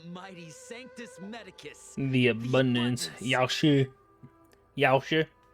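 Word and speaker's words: Yaoshi: Sanctus Medicus the abundance Yoshi Yoshi it's spelled Yao she but it's not pronounced that way makes me mad so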